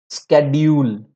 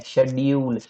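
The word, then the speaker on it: schedule: Don't get confused no बहुत सारे लोग जो होते हैं ना, स्केड्यूल, स्केड्यूल जबकि होता क्या है? शेड्यूल। दोनों उच्चारण राइट हैं। वन is American, one is British. परीक्षा ब्रिटिश पूछेगा, तुम इसको भले ही स्केड्यूल बोलो, फोनेटिक में शेड्यूल ही चलेगा।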